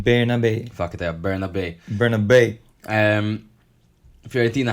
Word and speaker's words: Bernabé: on the right and Barnaby playing behind. Apparently, we're mispronouncing it. A guy on YouTube told us. It's Barnaby or something.